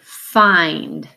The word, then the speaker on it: find: memorize this by heart it's not a short I sound fine has that long I sound in it so that can be